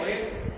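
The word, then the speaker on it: עורף: Que no, es decir, la palabra service, la palabra service es oref, en el hebreo oref, con acento en la E, oref, que es cuello.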